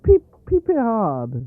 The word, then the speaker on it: piperade: In your the way to cook, in your recipe for I probably will butcher the pronunciation, but piperade, Oh, just piperade.